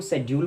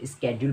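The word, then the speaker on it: schedule: इसको शेड्यूल पढ़ता है, कोई इसको स्केड्यूल पढ़ता है। तो आपको मैं बता दूं, दोनों ही प्रोनाउंसिएशन ठीक है। अमेरिकन इंग्लिश में इसे स्केड्यूल पढ़ा जाता है और ब्रिटिश इंग्लिश में इसको शेड्यूल पढ़ा जाता है।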